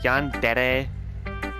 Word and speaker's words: yandere: I'm not really sure what else to explain, but, you know, the entire yandere, and yes, I'm using the Japanese pronunciation for that, that type of personality is actually, you know, pretty fascinating.